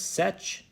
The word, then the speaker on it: Seth: Above here, you have the name of Seth, which says Sech, which can be pronounced in different ways depending on the period.